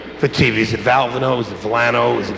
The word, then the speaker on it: Valvano: The Oval Office, the President of the United States says, how do you pronounce that? I said, Valvano. I said, yes, sir, Valvano.